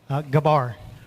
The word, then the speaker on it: Gabar: Gabar. Gabar. There you go. See, I've been saying it right. It is not Gabber, even though it looks like it.